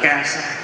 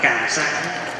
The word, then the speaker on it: cà sa: lút lút vậy đó, kêu là hoại sắc, gọi là ca sa. Mà bây giờ chúng ta đọc là cà sa.